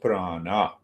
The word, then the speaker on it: prana: So let us come to prana. Prana, Sanskrit word. Pra is a prefix. Nami, ana is a suffix. So both becomes prana, two syllables.